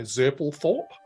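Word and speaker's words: Zerpulthorp: u l t h o r p so zurple Thorpe God uh and then it's a blasmas b-l-a-s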